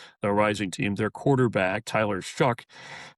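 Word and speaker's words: Tyler Shough: Their quarterback, Tyler Shuck, pronounced not like it's spelled, but is a He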